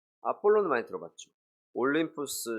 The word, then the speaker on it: 아폴론: 아볼로라고 그 이름을 줬는데 원래 발음은 아폴론입니다. 아폴론을 많이 들어봤죠.